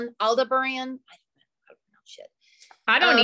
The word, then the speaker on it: Aldebaran: I should know how to pronounce this one, but I don't. It's Aldebaran, okay. Aldebaran.